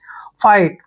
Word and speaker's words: fight: देखिए FI को हम फाई पढ़ेंगे, फाई। और टी से पहले GH फिर आ गया तो GH को आप साइलेंट रखिए, ठीक है? इनको पढ़ना ही नहीं है। और टी को टे पढ़िए।